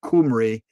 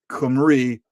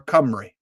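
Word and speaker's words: Cymru: be as near as possible to the name Kumri Kumri or Camry.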